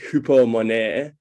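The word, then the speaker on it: ὑπομονή: And it's used, it's this Greek word, pardon my pronunciation, it's like hupomone. It sounds pretty French, but that's what the YouTube video of how to pronounce it said.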